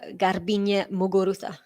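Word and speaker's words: Garbiñe Muguruza: say sarah sorry and i would also say garbine muguruza gosh test in my my spanish pronunciations here but yeah that's how i would say those with my accent anyway 15 love here for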